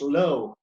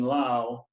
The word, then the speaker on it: Low: Consequently, they pronounced their surname, as I have done, to rhyme with cow and not snow.